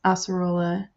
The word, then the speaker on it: Acerola: And if the way I'm saying it is wrong and it grates my ears, I apologize. That's apparently how they pronounce it in Japan. That is how it's written in katakana, so that's how I'm saying it.